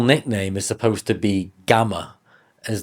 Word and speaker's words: Gamrot: He's 'gaming' the system if you like It's funny, because his actual nickname is supposed to be "Gammer" as that's how you pronounce it in Polish his surname and it comes from that, not like a 'gamer' guy holding a PlayStation controller.